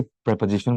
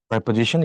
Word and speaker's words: preposition: পদ্ধতি নির্দেশ করে, তাকে প্রেপোজিশন বলে, বা পদান্বয়ী অব্যয়। বাংলাটা মনে রেখো, পদান্বয়ী অব্যয়। আর উচ্চারণটা প্রেপোজিশন, ইট নট প্রিপোজিশন, প্রি না, ইটস প্রেপোজিশন।